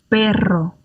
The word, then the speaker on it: perro: R1s and R2s, because the first one is between two vowels, the second one is a double R, and the double R trumps everything else, as it were.